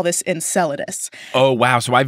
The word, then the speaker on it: Enceladus: rolled with it enchiladas I know Enceladus is that's like the most common accepted pronunciation especially because there's a moon named after him right see this is